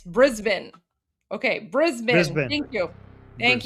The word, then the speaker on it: Brisbane: Oh, apparently Armen, I just learned it's not Brisbane, it's Brisbane.